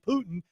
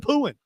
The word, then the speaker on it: Putin: No, we were in the office and I was telling him how how the Fox News person kept mispronouncing Putin and saying pooing.